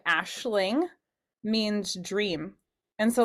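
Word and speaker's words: Aisling: knew a girl named Ashling which that's the really popular name out there and it's spelled a i s l i n g and so the AIS made an ash sound and she really liked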